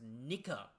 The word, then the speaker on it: Nika: Sound effects pronounced Nika.